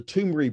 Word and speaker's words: Toomre: How you spell it is Toomre, Toomri brothers.